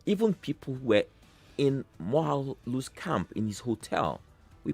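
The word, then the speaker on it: Moghalu: as you claim that Mogalu's or Mohalu, I must pronounce him properly, Mohalu's delegates or whatever, those invited, stayed 40 kilometers away.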